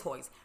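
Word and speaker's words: Hoyt's: to mess it up hoist it is hoist but i said it rhymes with moist hoist moist so you're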